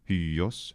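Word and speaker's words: υἱός: So a geminated y sound, hyos, hyos, for this is perfectly reasonable, and thus spelling it like this also works too. Hyos, hyos, hyos. It's a very, very small difference in pronunciation.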